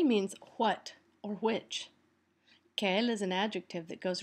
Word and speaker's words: quel: k k k k notice that they're all pronounced the same let's move this thing